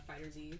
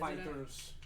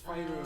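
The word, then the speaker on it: FighterZ: I had this feeling when we played Dragon Ball Fighters. Yes. Yeah, I The totally other get day. that. I wasn't here for Fighter Z, but if we do revisit it, Fighters.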